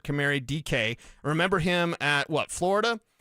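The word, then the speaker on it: Dike: So, if you're looking for it on your waiver wire, it's D I ke DK is the way you pronounce it. Camary DK.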